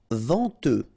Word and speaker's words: venteux: Venteux. final X not pronounced, then EN, en, venteux.